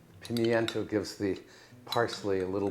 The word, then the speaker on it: pimiento: add some pimiento now some people pronounce that pimento ignoring me I pimiento gives the parsley a